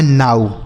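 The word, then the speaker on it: now: ओ डब्ल्यू का उच्चारण बच्चों आऊ। तो यह लिखा है नाऊ।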